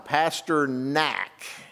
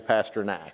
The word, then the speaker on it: Pasternak: pastor Dan I'm gonna mess it up I say his name wrong every time pastor natch okay in southeast Oklahoma its pastor neck but it's actually Pasternak is that can convinced